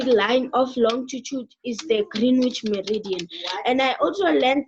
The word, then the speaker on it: Greenwich: I wanted to tell you that it's it's pronounced as the Greenwich Meridian and not military and I just got